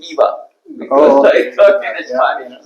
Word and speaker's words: IIBA: We have make it the Latin way. Gotcha. Sorry. Okay. We always say IBA. No Indeed, when I started, I called it IVA.